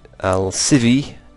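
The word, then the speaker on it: Almsivi: Let's do some Alcivi. Yes, it's Alcivi. It's not Alcivi, like I was saying before. Alcivi. I think that's how you pronounce it anyway.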